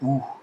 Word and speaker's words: У: faux ami c'est un faux ami parce que ce n'est pas un y comme en français cette lettre en russe c'est la lettre ou il y a une